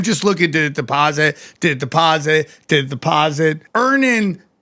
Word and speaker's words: Earnin: Download Earnin on the App Store or Google Play. Spelled like earning money without the G.